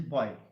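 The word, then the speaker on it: buoy: next stranger on a boy b u o y the pronunciation is boy okay bye the pronunciation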